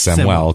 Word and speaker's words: Samuel: W L it's no it's like Samuel but it's pronounced samel cuz he's Juan yeah s m u